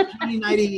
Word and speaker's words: Joni Neidigh: But pronouncing it correctly does not in any way help us spell it. It's Joni Neidigh.